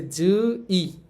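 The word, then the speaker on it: 주의: আবার দেখেন আবার আছে জু ই এখানে জই শেষে আছে শেষে এখানে র বা এর বুঝাচ্ছে না। যদি র বা এর বুঝাইতো তাইলে এ হয়ে যাইতো। যেহেতু শুরুতে ইয়ং এর সাথে নাই শেষে র বা এর বুঝাচ্ছে না। এই দুইটার কোনটাই হচ্ছে না। তাহলে এখানে উচ্চারণ হবে ই। সুতরাং এই শব্দটার উচ্চারণ হবে জুই।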